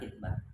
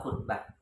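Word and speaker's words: خطبة: Di sini dikatakan bismillahirrahmanirrahim mayyahtub minal khitbah bil kasri, bacanya khitbah. Ada khitbah, ada yang dhamma khutbah.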